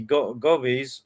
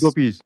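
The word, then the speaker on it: gopis: if I'm wrong, but you mentioned that the gobies or how do you say gobies? Gobies. Gopies.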